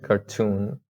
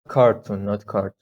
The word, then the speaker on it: cartoon: Cartoon. Not cartoon, right? Cartoon. The stress is on the second syllable.